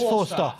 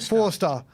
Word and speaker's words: Forster: We have tried this playing out from the back, and the distribution of Forster, or Fraser, how do you pronounce it? Is Forster. Forster, as in four-star.